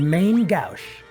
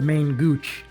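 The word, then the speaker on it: main-gauche: When we get into Mount Colts, we find a new weapon for Locke, the main Gouche. By the way, as a kid I pronounced this the main Gooch.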